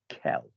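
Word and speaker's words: quel: they all sound identical they all sound identical Kell K Kell you might as well spell it gel in fact people often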